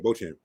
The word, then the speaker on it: Beauchamp: I mean, Marjon, how do you pronounce that? Yeah, Beauchamp. Beauchamp.